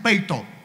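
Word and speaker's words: πείθω: La palabra obedecer en el griego es peito. Así se pronuncia, peito.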